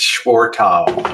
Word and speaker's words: Schwartau: It's Schwartau. Missy Jenn's juror, she can pronounce it.